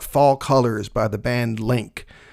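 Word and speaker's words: Lync: colors by the band link I've always been pretty sure it's pronounced length it's l-y-n-c but if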